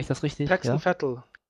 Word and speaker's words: Vettel: gemerkt, weil der Vettel ist einer, der kann, spricht man denn so aus wie ein Rennfahrer? Mache ich das richtig? Pax und Vettel. Vettel, okay.